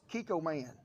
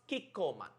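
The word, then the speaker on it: Kikkoman: pronounced the soy sauce Kiko man is that how you say it Shan Kiko man Kiko man so cute he make our soy sauce sound like super hero oh no the food tool plan who should we call man Uncle Roger have brother living in Japan I check with him it pronounced kikan we're start off with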